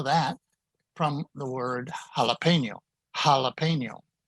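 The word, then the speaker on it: jalapeño: from the word jalapeno jalapeno a strong h sound now before a o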